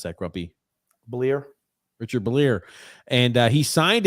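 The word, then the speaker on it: Bleier: How do you pronounce that, Grumpy? Bleer.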